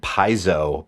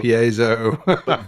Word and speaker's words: piezo: and that's the see i've always said paizo but i i feel like that's the incorrect pronunciation i've got no idea oh it's called yeah it's like the piazza piezo that sound man you